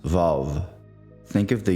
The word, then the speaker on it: Vav: The sixth letter is Vav.